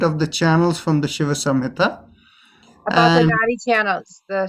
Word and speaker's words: Shiva Samhita: Samasanhidra? No, Shiva Samhita.